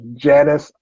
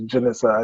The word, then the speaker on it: Janissa: I thought it was Janice, but it's Janissa.